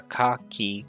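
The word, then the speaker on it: カ: tackle the first one this is ka or ka it's a consonant followed by a vowel a mix of a single syllable you pronounce this as call like in the word card if you study here at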